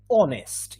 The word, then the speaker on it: honest: is the right one we don't pronounce the age why is that the case i'll tell you in spanish we always say that we we have been born hearing this um uh by people saying or explaining how to pronounce that word yeah uh that letter sorry in english h is not mute except in some words yes so this is one of the exceptions in honest someone writes in the